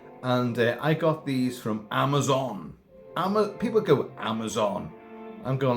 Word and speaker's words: Amazon: And you end up having literally a 2 to 3 minute argument over how to pronounce Amazon. It's Amazon. You don't talk about the Amazon jungle, the Amazon River. It's Amazon.